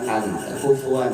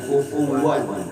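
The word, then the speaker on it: كفوا: Pastiin wunnya kebaca wau wan bukan alif anfuan, tapi kufuwan. Heeh. Ya. Kita kalau lagi ee sedetail mungkin itu pasti orang lebih banyak bacanya alif itu hanfu. Tapi ufuwan ternyata wau ya.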